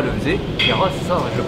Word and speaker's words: Kheira: Je vais vous montrer comment Kera le faisait. Kera, c'est ça, je le prononce bien.